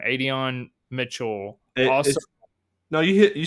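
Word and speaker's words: Adonai: sorry I'm going to butcher his first name Adon Mitchell also no you you said it right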